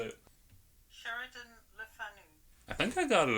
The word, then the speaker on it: Sheridan Le Fanu: Sheridan Le Fanu.